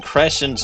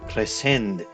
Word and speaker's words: Crescent: That was quite a statement you made today in court about hearing Darien Crescent's voice at the scene of the crime. His name is pronounced Cresend, you idiot.